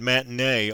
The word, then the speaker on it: matinee: with far more self-consciousness the word matinee offers a convenient example to this day the english commonly printed in italics give it its french accent and pronounce it with some attempt at the french manor but in america it is entirely naturalized and the most ignorant man uses it without any feeling that it is strange the same lack of